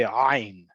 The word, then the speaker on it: ayin: Now, the letter ayin, right? Some people pronounce it, especially coming from countries that spoke Arabic would say ayn, right? So you'll hear people say leha anik to really emphasize there's an ayn in there.